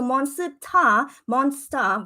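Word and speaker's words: 몬스터: But the one that I wrote on top, that is monsta. Yeah, so monsta, right? So that is the proper spelling in Korean. And then the bottom word, it's a real word, which is how you say monster, but in the Korean alphabet, monsta, which is, it's actually a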